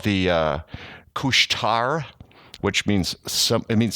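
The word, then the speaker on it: Couche-Tard: went to the little store called the uh cushtar which means some it means 7-eleven okay it's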